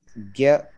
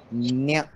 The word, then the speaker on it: ज्ञ: हाँ, तो अब ज्ञ जो एक शब्द अक्षर है ये थोड़ा सा अलग अलग तरह से उच्चारण होता है इसका। इसका उच्चारण उत्तर भारत में हमने ज्ञ की तरह भी सीखा है और इसका उच्चारण हमने और कई राज्यों में न्य की तरह भी देखा है, और दोनों होता है, तो इसमें शुद्ध अशुद्ध जैसा कुछ नहीं, वो ज्ञ भी बोलते